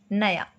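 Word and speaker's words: knew: और न्यू क्या होता है, नया, हैप्पी न्यू ईयर, नया। ओके, यहाँ पर के हटा हुआ है और यहाँ पर के की साउंड साइलेंट है, बोलिया जाएगा न्यू, ये भी न्यू बोला जाएगा।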